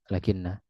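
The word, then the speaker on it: لكن: Ini faidah ringkas tentang lakinna. Diringankan bacanya menjadi lakin.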